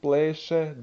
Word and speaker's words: pleše: S goes to sh.